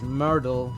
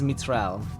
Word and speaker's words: Mitral: I looked at it wrong and thought it was Myrtle not actually Mr. Mr. Yeah, it is. It is Mitral. Um, that is the official pronunciation that I decided arbitrarily. All right, thanks for stopping by.